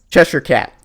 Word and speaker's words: Cheshire Cat: Cheshire Cat. Alright, cool. I knew that. I have been pronouncing it right.